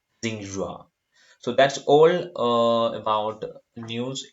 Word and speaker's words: Xinhua: It's pronounced like Xinhua.